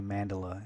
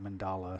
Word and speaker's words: mandala: full circle mandala mandala I've learned recently that I was pronouncing that word wrong and it's actually mandala and not mandala so I'll do my